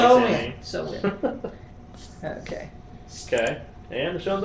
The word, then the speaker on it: Samhain: It's actually pronounced so win.